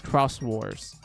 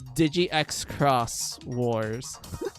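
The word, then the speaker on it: Xros Wars: when Cross came out I didn't know it was read as Cross Wars I thought it was Digi Xcross Wars.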